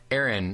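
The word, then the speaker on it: Exrin: And you can find Aaron at Aaron, only it's spelled E X R I N, but the X is silent.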